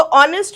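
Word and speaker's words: honest: आगे हम क्या लगाएंगे ऑनेस्ट वर्कर तो ऑनेस्ट में स्पेलिंग जरूर इसकी है मगर इसका जो साउंड होता है वावेल का साउंड आता है ऑनेस्ट और का साउंड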